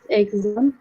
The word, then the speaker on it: exam: that was the hardest agzam I have ever taken not exam but exam exam because the stress is on the ball okay that was Islam